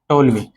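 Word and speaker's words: Ptolemy: next यहां पर इसकी जो ऑर्डिनेट ज्योमेट्री है उसको फिर और आगे बढ़ाया था जिसका नाम है टोलमी टोलमी पी साइलेंट है इसमें टोलमी ठीक है तो टोलमी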